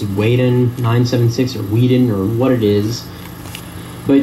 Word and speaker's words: Whedon: Okay, anybody with a brain knows that I say my name at the beginning of all my videos. I say Whedon.